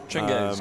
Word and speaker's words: Chinggis: One of my friends swapped my face with the face of Genghis Khan. Chinggis. Got to say it right when you're in Mongolia.